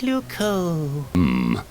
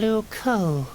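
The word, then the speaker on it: Loucaux: Luco doesn't really rhyme with Bordeaux. It's spelled completely differently. Really? Luco is spelled L-O-U-C-A-U-X.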